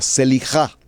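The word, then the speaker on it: סליחה: ese sacrificio del ayuno la primera palabra se elija así como suena se elija se elija se escribe se elija se pronuncia con j se lija la segunda palabra y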